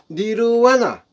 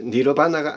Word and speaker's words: 니르와나: 그리고 열반, 즉 니르와나, 빨리어로 이 열반 니르와나라고 합니다. 니르바나라고 하는 분들이 있는데 니르바나가 아니고 니르와나, 니르바나 할 때 V를 비읍 발음으로 내는 것이 아닙니다. 니르와나. 일반의 세계는 과연 어떻게 하면 갈 수 있을까요?